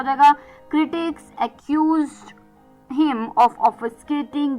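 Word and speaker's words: obfuscate: ओ बी एफ यू एस सी ए टी ई of skate.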